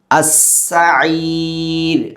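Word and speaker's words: السعير: അവിടെ സീന് ശ്രദ്ധിക്കണം. സ് എന്ന ശബ്ദം പുറപ്പെടണം. രണ്ടാമത്തത് ഐനാണ്, തൊണ്ടയുടെ മധ്യഭാഗത്തു നിന്ന് പുറപ്പെടണം. ശേഷം നമുക്ക് റാ കാണാം. സഈർ എന്ന് ഉച്ചരിക്കുന്നത് തെറ്റാണ്. മറിച്ച് സഈർ, രാ എന്ന മലയാളത്തിലെ ഉച്ചാരണം അവിടെ വരണം. അസ്സഈർ.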